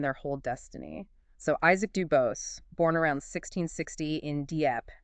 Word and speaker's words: DuBose: So Isaac DuBose, born around 1660 in Dieppe, that's D-E-E in